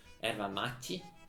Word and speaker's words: erva mate: the yerba mate or erva mate, erva machi, depending on how you pronounce it in Portuguese.